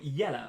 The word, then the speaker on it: Yella: So the first question comes from Yella or Jella. I think you pronounce it Yella. I think so. Like Yotta. I like Yotta, but Yella.